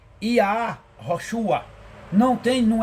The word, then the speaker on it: Yahoshua: o camet patar então obviamente que aqui se pronuncia iá rosua Não tem, não é I é como aqui.